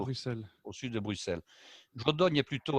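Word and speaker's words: Jodoigne: Il y a la localité de Jodogne qui s'écrit Jodoigene et la localité de Wavre.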